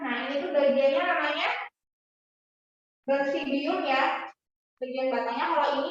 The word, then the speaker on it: basidium: Yang nomor 4, meiosis yang di tangkai itu apa bacanya? Yang merah? Basidium.